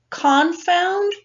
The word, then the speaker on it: confound: has become a confound think of it this way Khan found rhymes with dumbfound we are now dumbfounded